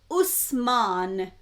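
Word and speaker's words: Uthman: Was it Utman? I think that's how you would pronounce his name in Arabic. And Usman, same person. Or Hazat Usman or Utman or Hazat Utman. I think that's how they pronounce his name in Arabic. or some dialectal version of Arabic.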